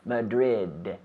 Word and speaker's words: Madrid: Madrid Madrid you know in English we have to pronounce those D's yes Madrid so we have the I have the D with my tongue touching the roof of my mouth behind my teeth Madrid Madrid again Madrid